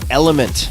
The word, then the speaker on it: LMNT: tip this episode is brought to you by element that's spelled lmnt what is element it's a delicious